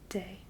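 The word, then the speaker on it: des: into a longer plural both of these are pronounced day just like day and night day today so you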